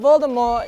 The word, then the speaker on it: Voldemort: and still holds it the t in voldemort is silent the name comes from the french words meaning flight of death on the set of